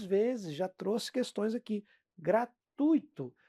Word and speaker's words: gratuito: Gratuito. Não é gratuito. Se for gratuito, vai sair caro, tá?